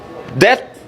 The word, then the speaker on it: debt: P is silent. Debt.